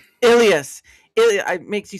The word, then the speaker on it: Illyes: Ilas. Ilas.